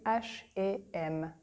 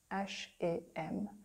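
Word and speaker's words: H&M: just so you know this is how we say it in French we say ash am ash am so and in French is a ash am and it's like to learn together a shame a shame oh this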